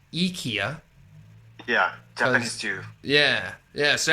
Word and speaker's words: IKEA: Which is actually, so Swedish, it's pronounced as IKEA.